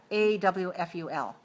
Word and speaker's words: awful: of times how about a w f u l what is that a w f u l awful awful oh I look awful I